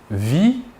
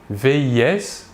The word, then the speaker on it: vis: Nous remarquons que la prononciation du verbe est la même, vit. Nous ne prononçons ni la S finale ni la T finale.